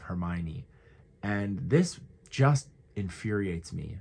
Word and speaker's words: Hermione: Even reals about Harry Potter or something will say harmony instead of Hermione.